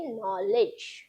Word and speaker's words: knowledge: भले ही यहाँ पर के है, लेकिन इसे, ये के जो है वो साइलेंट होता है, इसलिए इसे हम पढ़ेंगे नॉलेज। ओके, सक्सेस यानी कि सफलता।